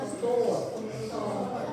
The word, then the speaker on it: store: Dibacanya store. Jangan kedengaran e-nya.